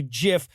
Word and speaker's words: GIF: issue comes up the guy who invented it pronounces it jiff says one side that's a peanut butter says the other when G's or C's are followed by an i or ii they're usually pronounced as soft says one side